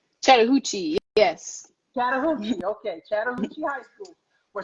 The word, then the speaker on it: Chattahoochee: Chattahoochee, yes.